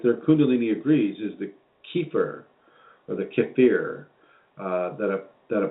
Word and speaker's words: kefir: And if you go against the transformation of the intestinal tract, yes, Sukha, I mean, how do you pronounce kefir?